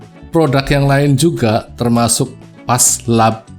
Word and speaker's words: Phase Lab: yang lain juga termasuk Paslab ya bacanya ya, Paslab lah, katakan kita baca Paslab.